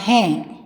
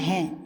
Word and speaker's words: हाँ: ஹா ஹா என்ற சொல்லில் மேலே ஒரு அர்த்த சந்திர புள்ளி வைத்துள்ளது பாருங்கள். அப்படி வைத்திருந்தால் ஹா என்று மூக்குத்வனியுடன் சேர்த்து உச்சரிக்க வேண்டும்.